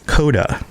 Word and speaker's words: C0DA: all right so um coda coda and it's spelled c0da coda and so what what